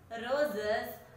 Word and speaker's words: roses: Answer is roses, and roses, the word roses ends with S letter, but it says like roses. Z letter. It is pronouncing as Z letter.